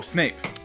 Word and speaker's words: Snape: From getting it rhymes with grape. Yes. Oh, Snape.